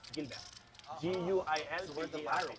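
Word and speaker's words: Guilbert: How do you pronounce it? No, my official last name is Gilbert. Gilbert.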